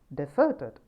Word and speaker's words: deserted: becomes a noun and if it is placed on the second syllable then it becomes the